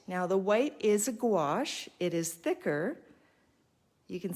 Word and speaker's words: gouache: And the opaque watercolor ink is called gouache. I know it sounds weird, but it's spelled Gouache.